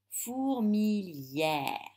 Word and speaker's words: fourmilière: dans ce mot le y et le s prononce billets fourmillère pareil dans ouvrière le yellow mais se prononce